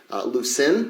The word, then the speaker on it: Lucin: Lucin, is that how you say it? Yeah, well, that's where his farm is.